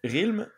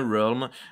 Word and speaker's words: realm: l'a dit real donc Thierry avait dit RILM moi aussi et Shun avait dit realm et il nous confirme c'est bien realm et donc Shun vient